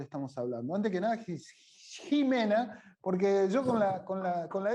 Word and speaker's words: Ximena: Decime vos bien cómo se dice. No importa, me hago cargo igual, me hago cargo igual. Está bien. Ximena es, no sé. Ximena, mis padres me dicen Ximena, así que yo calculo que esa era la intención.